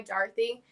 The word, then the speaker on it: Darthy: that the traditional pronunciation since it's an english name it's actually pronounced like d-a-r-t-h-y dorothy and so i started